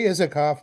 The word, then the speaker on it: Isacoff: Is that the right way to pronounce it? Oh, I say Isacoff, but I answered.